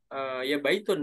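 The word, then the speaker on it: بيت: kalau dalam usaha ya harusnya baitun ya baitun bacanya bukan Beat bukan Beat bet biasanya mereka bed ya Bet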